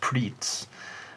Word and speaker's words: Pretz: Pretz, I don't know if any of you have had this sort of pretzel stick snack. In Japan it's pronounced pritz.